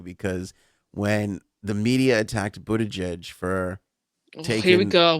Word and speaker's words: Buttigieg: Basically, they got the Kamala Harris camp got all pissy because when the media attacked Buttigieg for taking... Here we go with this fucking pronunciation.